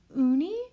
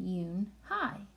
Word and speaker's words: Unhei: "Uni?" the girl asked, scrunching up her face. Uni," some kids chanted. No, Unhei corrected. It's spelled U-N-H-E-I. It's pronounced Yoon-hai.